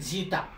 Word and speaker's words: zeta: इसको प्रोनाउंस करते हैं जीटा.